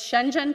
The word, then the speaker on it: Shenzhen: I used to teach ESL, I know how to say this. Shenzhen province.